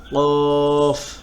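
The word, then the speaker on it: ق: ত য আইন গইন ফা কফ কাফ। কফ হলো গম্ভীরভাবে এবং জিহ্বার গোড়া তার বরাবর উপরে তালুর সঙ্গে লাগাইয়া।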